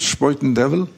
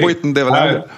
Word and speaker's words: Spuyten Duyvil: It's sort of Dutch. That's closer to how it's said. Yeah, exactly. Spuyten Duyvil. How do New Yorkers, I tend to hear it Spuyten Duyvil is how New Yorkers tend to say it.